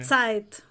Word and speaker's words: Zeit: Eu nunca sei se é Zeit ou Zeit. É Zeit.